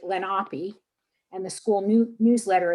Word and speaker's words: Lenape: yearbook is entitled um they say they pronounce it lenape and the school new